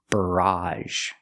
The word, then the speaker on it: barrage: is barrage very similar barrage the first sound is R like Burger bur bur and the a sound at the end barrage it's a countable noun